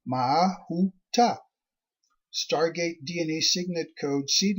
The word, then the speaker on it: Mahuta: Tribe 10, Mahuta, pronounced Mahuta.